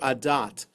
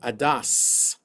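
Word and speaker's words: עדת: So those who learned the Ashkenazi way would pronounce that word adas, which is why the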